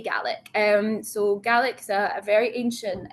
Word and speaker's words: Gaelic: the word ga the ga word is is pronounced in Scots ga whereas in Irish Gaelic they say Gaelic.